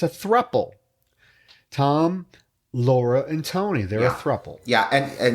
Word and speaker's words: Thom: It's Tom, but it's spelled T H O M.